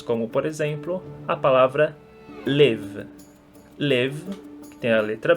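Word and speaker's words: לב: Então nós temos como, por exemplo, a palavra lev. Lev, que tem a letra bet, porém ela é pronunciada como v. Isso porque ela se encontra no final da palavra.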